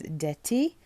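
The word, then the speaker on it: Parfum d'Été: So I looked up how to pronounce this, and I'm pretty sure it says D'Ete, which means perfume summer or summer perfume.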